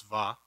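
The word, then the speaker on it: וָ: you've got tohu and that looks like wa but it's va it rhymes on purpose the author meant to do this um and what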